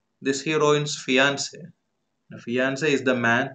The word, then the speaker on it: fiancé: I mean the same pronunciation for masculine and feminine fiancé. Please note the spelling. The spelling is different, but we have the same pronunciation.